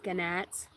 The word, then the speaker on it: gnat: Gnats? It's not a gnat, it's a gnat. It's just spelt with a G.